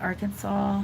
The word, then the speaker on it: Arkansas: Like all the Arkansas, Kansas, like they have the same ending, but the pronunciation is different.